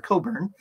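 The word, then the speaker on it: Cockburn: is not obvious um and the CK is silent in his name for reasons that uh that you could probably guess um and Alistair had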